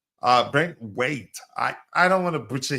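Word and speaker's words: Branthwaite: Brent White or Brent Wait? Brent Wait.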